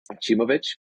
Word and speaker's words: Acimovic: of well uh well let me start by pronouncing my last name I think that's the thing that everybody gets wrong chimic um chimic so so I'm originally